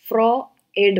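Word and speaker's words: Freud: So actually फ्रॉयड correct pronunciation है इसका. ओ कहीं पे भी नहीं है, लेकिन अगर आप गूगल करेंगे और इसका प्रोनाउंसिएशन देखेंगे तो ये फ्रॉएड होता है, यू नहीं इसमें प्रोनाउंस होता.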